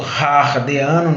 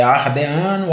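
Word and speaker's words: Hadeano: Que é o período Ardeano ou Hardeano, não sei qual é a pronúncia correta, provavelmente a gente fala no português Ardeano, né? O H não tem sonorização, é mudo. Então é Ardeano, Arqueano, Proterozoico e Fanerozoico.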